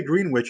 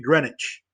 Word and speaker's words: Greenwich: Los términos que debes aprender y definir son localización absoluta, localización relativa, meridiano de Greenwich, no se dice Greenwich, es Greenwich. Ecuador, paralelos de latitud, que son horizontales, paralelos de longitud, que son verticales.